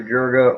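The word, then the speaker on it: Juriga: future you know a lot of people say jurga's got a pretty good future some people even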